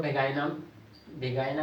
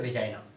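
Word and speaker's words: vagina: एक योनि वेजाइना, जिसको बहुत ज्यादा वेगाइना भी बोलते हैं, वेजाइना बोलते हैं, सबका अपना अपना प्रोनाउंसिएशन होता है। इसको जनरली हम लोग बोलते हैं वेजाइना।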